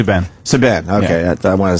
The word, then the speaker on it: Subban: I guess Saban? Is that how you say Subban. Subban, okay.